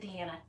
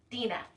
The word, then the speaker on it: Dina: I'm sorry, I said Deanna. Dina. Excuse me. I have a very difficult name, and I got her name wrong.